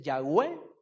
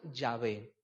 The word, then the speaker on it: Yahvé: H W h y cada quien decide como lo va a traducir si dice yahwe o lo pronuncia yahvé porque son las dos palabras más cerca del original en hebreo verdad en en los